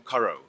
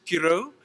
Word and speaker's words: Curro: say, welcome Chris from Curro. Now, the correct pronunciation in Latin is Kiro, which means I, the